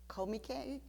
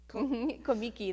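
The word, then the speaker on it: Comique: arbuckle's studio really called komike komiki they pronounce me thank you it's spelled comic but yeah they thought they were being french yeah they pronounced it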